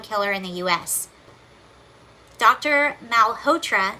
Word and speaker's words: Malhotra: uh Dr Mal hoer I cannot say this name it's spelled a l h o t r a it's the o t r a that's throwing me off uh Dr Malhotra says the Maha believes